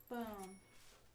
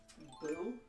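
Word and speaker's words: Beau: Boo? B-E-A-U? Bo? Bo. Don't tell anybody I taught you to read. That's not English. Yes, it is. Bo? Boo? It's Bo.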